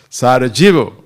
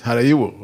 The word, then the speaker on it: Sarajevo: Because the spelling, by dint of the spelling, is supposed to be Sarajevo. But they said, no, that's not, it's not pronounced like that. It says Harayiwo, okay?